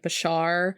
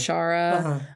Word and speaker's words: Bashara: saying he like was mispronouncing their name as like Bashar instead of Bashara.